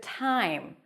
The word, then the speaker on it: time: Notice the T that is a little aspirated. It feels like it has a little H there. What's a good time for us to meet?